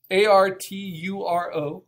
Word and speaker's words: Arturo: name is art so if you type in Arturo Herrera or Arturo Herrera art you'll see the